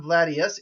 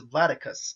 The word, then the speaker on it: Vladicus: It's not Vladius, it's Vladicus, like Spartacus.